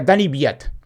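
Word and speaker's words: Daniil Kvyat: que es Dani viat se escribe danil Kat y lo gul 200 veces y se pronuncia Dani biat esper que me entiendan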